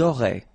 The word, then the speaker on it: auraient: Elles auraient. And then look, if you've got A-I-E-N-T, then phonetically it goes like aurait.